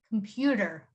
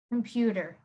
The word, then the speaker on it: computer: of them when they're when the t is right in the middle of it you would pronounce it as d computer computer and the next one